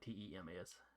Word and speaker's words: Thames: Yeah, it's pronounced like Tems.